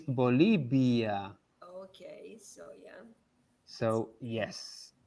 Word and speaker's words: Bolivia: the end of the look at how i pronounce the second half of the word bolivia oh yeah there is a b sound oh yeah but it's not the yeah as well it's not it's bolivia okay so yeah so